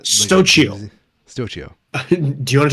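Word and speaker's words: Xóchitl: I am going to have to search Google for a pronunciation. Oh shit. Is it really that? Like a Stochio.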